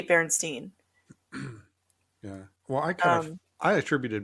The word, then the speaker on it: Berenstain: I remember it like you pronounced it as Berenstein, but it had an A in it So it looked like Berenstain Bears or something.